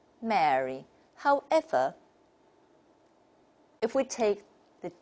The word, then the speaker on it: Mary: If we take RP, the British model, and we pronounce the three words very differently. Listen, Merry, the Merry Christmas. And then the second one is a marry. So we can see the difference. And then the third one, if it's a name, a diphthong occurs here, and we say Mary, Mary.